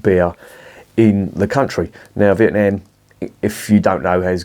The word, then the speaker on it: Vietnam: It's pronounced Vietnam, not Vietnam. We are not American in this country yet, so we're going to pronounce it Vietnam.